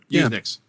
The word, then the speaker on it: Usenix: Is that how you pronounce it, Joe? Yep, Usenix.